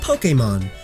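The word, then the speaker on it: Pokémon: It's pronounced Pokemon.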